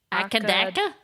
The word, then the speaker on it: AC/DC: It is pronounced one letter at a time, though the band are colloquially known as Akadaka?